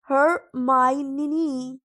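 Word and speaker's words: Hermione: वह वह बार-बार उसे हर्मियोनी कहती है यह पुकार रहा था। हरमाइन धीरे-धीरे और स्पष्ट रूप से उन्होंने कहा, "हर-मा-ई-नी," अब थोड़ा और।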